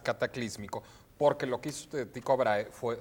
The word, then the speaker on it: Tycho: porque lo que hizo Tycho Brahe fue, ya iba a decir Chico Brahe, lo que hizo chico Tycho Brahe. El chico Tycho Brahe. Es que se escribe Ticho, ¿no? Ticho. Sí.